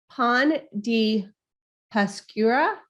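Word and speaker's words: pan de pascua: pronounce try me actually so it is pon di paskura it's p-a-s-c-u-a sorry it's been a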